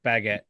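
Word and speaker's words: Bagent: How do you say his last name? Like Baggett, the quarterback for Chicago. Baguette. Baguette. I'm calling like the him bread. Baguette. Yeah, like the bread. Like the French bread.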